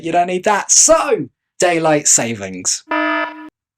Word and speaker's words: Daylight Saving: don't need that so daylight savings Daylight Savings Time Daylight Saving okay so it turns out it's pronounced Daylight Saving singular hey what did I